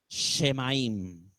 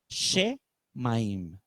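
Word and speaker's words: שמים: ¿Saben cómo se dice la palabra cielo en hebreo? Shemaim. Shemaim.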